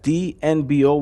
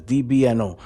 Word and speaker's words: DBNO: as a farm, but I would suggest DNBO, which is basically down but not. Oh, yeah, I said it wrong. It's DBNO, down but not out, because this will bunnies go down a lot.